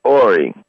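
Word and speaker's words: Horry: r y like Hy yeah Robert Hy it's pronounced ory it's it's PR listen I think I could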